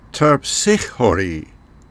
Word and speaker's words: Terpsichore: should warn you that I'm trying to use the original Greek pronunciation, and most of the time you will hear the names of the Muses pronounced in an Americanized or anglicized version for the English. So the way you will hear them pronounced elsewhere might sound different from the way I'm saying them here.